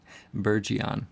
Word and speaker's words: Burgeon: I pronounce it correctly it's bergeon right burr Jian at least that's how I pronounce it okay I looked at